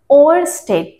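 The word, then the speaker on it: Ørsted: इसका थोड़ा सा प्रोनाउंसिएशन आपको ख्याल रखना होगा। ओस्टेड।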